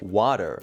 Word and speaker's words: water: water is pronounced like water as you can hear the T sound is almost substituted with a D sound the T as a